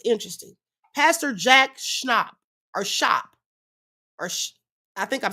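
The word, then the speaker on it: Schaap: Pastor Jack Schnop or Shop or I think I'm saying it right, Shop.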